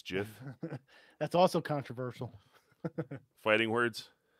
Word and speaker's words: GIF: it in canadian it's it's like jif it's not gif it's jiff that's also controversial fighting